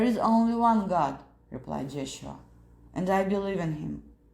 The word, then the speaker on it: Yeshua: the kingdom of Truth it will come again pronounced Yeshua it will never come cried pilate in such